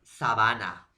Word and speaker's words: sabana: en la pronunciación profesor uno es sabana y el otro es sabana entonces entonces díganme ustedes jóvenes área no será igual o similar la pronunciación sabana sabana vuelvo a repetir sabana sabana será igual o parecida profesor no llenan parecidas no suenan iguales sabana sabana profesor no